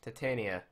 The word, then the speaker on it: Titania: titiana up right now how do you say titiana or what Titania TI T Titania Titania I call her titiana I don't know why